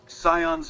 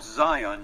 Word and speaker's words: Zion: ] ARS where in cion Valley can I find the survivalist rifle Mr house and sorry for my mispronunciation welcome back sion's Valley can I do for you it's called Zion you imbecile as for